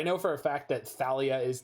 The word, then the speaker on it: Thalia: for a fact that thalia is talia like i've met a real life talia and it's spelled with an h and so it almost